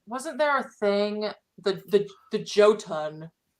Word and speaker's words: Jotun: I think it's pronounced like Jotun, like Yo, yeah.